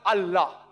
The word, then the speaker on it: Allah: They write it as I la. But when you pronounce it, we have to tell them pronounce it as Allah.